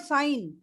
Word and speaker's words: sign: What about sign? G. Yeah, G is silent.